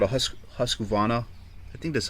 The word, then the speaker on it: Husqvarna: This one's what's called a Husqvarna. I think that's how you say it. I think the R is silent, but Husqvarna is a pretty decent brand.